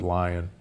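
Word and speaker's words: Lyon: the leone heart diet l-y-o-n but most from leon france but most people pronounce it lion there that diet in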